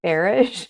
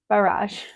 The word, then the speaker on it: barrage: Oh, rhymes with garage. Barrage.